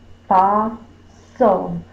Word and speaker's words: fossil: Fa is more stressed. This is unstressed.